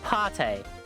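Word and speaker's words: pâté: half price okay so a with an arrow above it appears to be pronounced ah soft a softer a sound so ah like an oh oh nice so it's so it's pate so it is party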